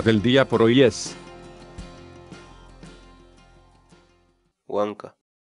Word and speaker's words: wank'a: de videos en la que te enseñamos a pronunciar algunas palabras en quechua. Así que nuestra palabra del día por hoy es... Huanca. Huanca.